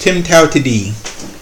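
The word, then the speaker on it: TIMTOWTDI: you'll see okay you'll see something that is pronounced Tim Tao to Dean there is more than one way to do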